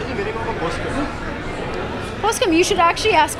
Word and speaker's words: Poskem: His book launch, it's called Poskem. Well, it's Poskem, but Poske is the pronunciation.